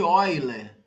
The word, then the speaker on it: Euler: até uma relação chamada relação de eiler se escreve Euler que ele era Holandês mas é um Euler com trema aqui né ol a relação